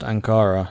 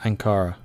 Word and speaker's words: Ankara: Pronounced Ankara, not Ankara.